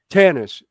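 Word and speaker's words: Tanis: Star Wars was in uh I'm probably gonna mispronounce it but I think it was Tunis Egypt or tuna Tannis yes Tannis Tannis Egypt Tannis um those buildings are still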